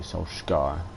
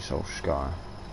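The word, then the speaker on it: Solskjær: of as well how norwegians pronounce it because obviously people say so shy a lot of uh i've heard people say soul sky as well i think it is actually soul sky it's like in formula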